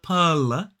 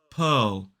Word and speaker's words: pearl: again with that dark so it's not pear it's Pearl Pearl so again we have that uh vow sound it's the same one we saw in word in world and also in the strong form of were and this word the only difference they rhyme the only difference is that it starts with a g sound so it